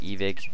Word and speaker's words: Evike: evic is my year evike I i want to see evike but i know they always pronounce it evic on their promotional videos so i would say